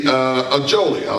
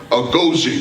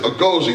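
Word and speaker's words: Agojie: You know, and I was really struck at the story about the Ajoli. I know I'm not saying it right. Agoji, that's it. Agoji, the all-female warrior unit that protected the West African kingdom of Dahomey.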